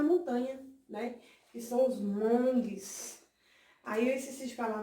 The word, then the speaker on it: Hmong: está assim, monges, mas tem um H na frente, né, mas a gente sabe que o H ele tem um som mudo, então a gente pronuncia monges, né.